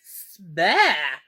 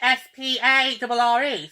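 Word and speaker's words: Sparre: Alright, yeah, they spell it S-P-A-R-R-E. So what am I supposed to say? Is it Spare? Sperry? Spar? Or how do you want to pronounce it? Well, Prince Harry says spare.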